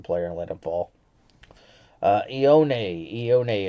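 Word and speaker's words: Ioane: Ione is how you say his last name.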